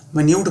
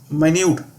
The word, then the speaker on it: minute: जो चीज़ होती है, स्मॉलर डिटेल होती है, माइन्यूट बोलते हैं इसको। क्या बोलते हैं? माइन्यूट।